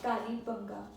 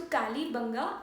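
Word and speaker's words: Kalibangan: Kalibanga. Kalibanga. In Hindi we call Kalibanga, and in English the spelling goes as AN in the last. So N is silent in the pronunciation. So Kalibanga and Sothi.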